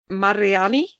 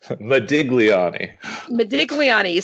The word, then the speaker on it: Modigliani: By Amadeo Mariani. Modigliani.